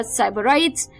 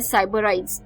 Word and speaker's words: sybarites: जो 13th word था शाम का वो था साइबराइट्स, SYBARITES, साइबराइट्स, SYBARITES, साइबराइट्स।